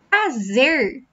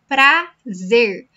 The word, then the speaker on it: prazer: So, prazer means pleasure. Prazer. My students also struggle with this pronunciation, so it's not prazer. Prazer. No, it's not like that. It's prazer. Close your mouth.